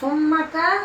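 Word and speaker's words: ثم: সোম্মা, আর কোরআনে সোম্মার উচ্চারণ বিধিটা জানা দরকার। হ্যাঁ, কোরআনে যেখানেই সোম্মা আসবে ওটা নরম সুরে বলতে হবে।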